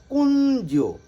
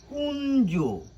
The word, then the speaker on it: কুঞ্জ: কি বলছি আমরা বলছি কুঞ্জ আমরা বলছি কি কুঞ্জ কুঞ্জ একটি ন আসছে আমাদের উচ্চারণে এবং বর্গীয় জয় একটি